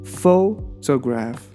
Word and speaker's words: photograph: others can tell photograph distress is the first syllable photograph photograph photograph the stress can first syllable photograph